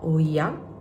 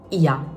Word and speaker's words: Oia: Adesso, stamattina siamo andate semplicemente a fare un giretto a, credo che non si legga Oia, il posto dove siamo a Santorini, ma Ia, senza la O. Mi hanno detto che non si pronuncia la O, non so se questa cosa è vera o meno.